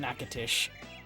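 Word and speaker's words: Natchitoches: It's pronounced Nakatish. I tried to take a guess because Louisiana. Right, it's Louisiana, so it would be French, not. It would be French, not Spanish.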